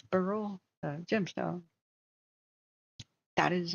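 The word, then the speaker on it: Beryl: at the time yeah Burl that's how you pronounce it as Burl uh b r y l uh Burl is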